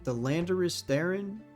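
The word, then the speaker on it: Landorus-Therian: The Landorus Theron?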